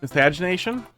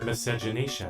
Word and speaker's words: miscegenation: Miscagination? How do you say that? Miscagination? One of those words you don't hear. Miscegenation. Miscegenation.